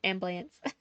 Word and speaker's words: ambulance: Yeah, it's ambulance. So it sounds like 2 syllables instead of 3. Instead of ambulance, it's ambulance. And it's in very specific areas. It's not everywhere.